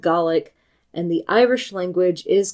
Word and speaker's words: Gaelic: the two languages and referred to it as Gaelic, While some people do refer to Scottish Gaelic and Irish Gaelic for simplicity's sake, the Scottish language is called Gaelic and the Irish language is called Galga.